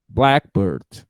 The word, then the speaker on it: blackbird: are good in phonetics blackbird the stressed syllable is black blackbird okay even in british english blackbird okay now i